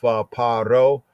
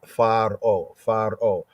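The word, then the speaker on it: פרעה: In the Hebrew context, as we have in the scripts, is paro, or sometimes pointed as pharo, great house, right?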